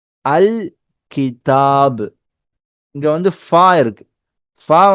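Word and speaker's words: الكتاب: அப்போ லாம நம்ம கம்பல்சரியா ஸ்பெல் பண்ணணும். அல் கிதாப், அல் கிதாப்.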